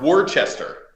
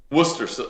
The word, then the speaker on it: Worcester: but it's spelled work War Chester but it's pronounced Worcester like Worcestershire sauce it's not Worchester Shire sauce or whatever the hell it's called it's Worcester like worship I don't know it's